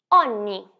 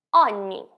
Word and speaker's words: ogni: E aqui a gente tem a pronúncia do GN, que é igual à pronúncia do NH em português. Ripeti dopo di me. Ogni. Ogni.